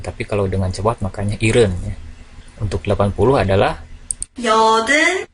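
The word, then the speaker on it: 일흔: Ireng bukan Ilham Jadi kalau dibacanya lambat maka dibacanya Heaven tapi kalau dengan cepat makanya Irene untuk 80 adalah ya oke yoden 9690 ehem-ehem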